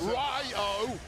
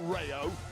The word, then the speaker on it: Rayo: Ryo. Say it properly, Michael Cole. Very disrespectful. You're like Gunther, you are. It's Ryo, not Rayo.